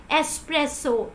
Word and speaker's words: espresso: way this is like espresso espresso there is no car sound here so I hope so